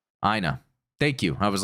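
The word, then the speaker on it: Aina: I was calling to let you know it's pronounced Ina. Ina.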